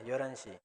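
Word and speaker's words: 열한 시: Y como es ya pronunciación rápida, normal, kid prácticamente no tendría sonido, sería yoranshi. 11시.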